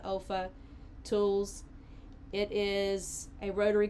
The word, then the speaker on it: Olfa: a um one the olfa I guess you pronounced that Alpha tools it is a